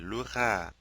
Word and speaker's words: louera: voudrais mentionner est que dans les verbes en IER, UER, OUER et accent aigu ER, au futur simple, nous prononçons seulement les voyelles I, U, OU, et. Le E après ces voyelles n'est pas prononcé.